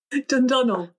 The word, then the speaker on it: Dundonnell: I cannot pronounce this word. Dundonnell.